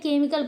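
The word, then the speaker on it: chemical: हैं बिनाई पढ़ते हैं अब देखिए एच साइलेंट वाले वर्ड हमारे कौन से हैं केमिकल यहां पे केमिकल नहीं होता क्या पढ़ते हैं केमिकल पढ़ते हैं यहां पे करैक्टर नहीं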